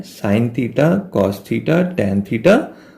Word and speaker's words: sin: साइन इज the abbreviation of साइन, SIN लिखते हैं उसको, इसको प्रोनाउंस भी हम लोग साइन ही बुक करते हैं।